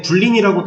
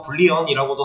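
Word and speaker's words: Boolean: 이 불린이라고, 얘는 불린이라고도 하고 불리언이라고도 하고 발음하는 방식이야 뭐 편하신 대로 하시면 되는데 얘 같은 경우는 데이터 타입이 논리형이라고 적혀있죠.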